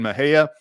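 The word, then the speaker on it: Mexia: Yeah, there's a old Fort Parker in Maha. If you're not familiar with Texas, none of none of the towns are pronounced like they they are spelled.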